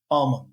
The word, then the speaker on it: almonds: I think almonds but take it out Dr the L almonds almonds thank you but